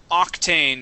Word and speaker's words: octane: And octane, here at the very beginning, we do pronounce that ain, octane. Octane. Uh-huh. That's one of the rare times when we actually do.